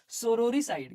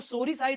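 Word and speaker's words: sororicide: इसको सोरी साइड मत पढ़ना, कई बार इसमें गलती करते हैं स्टूडेंट्स। सोरो, ध्यान से देखना स्पेलिंग, सोरो, फिर वापस री, फिर उसके बाद साइड है।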